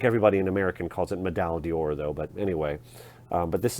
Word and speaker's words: Médaille d'Or: Médaille d'Or. I think everybody in American calls it Médaille d'Or, though.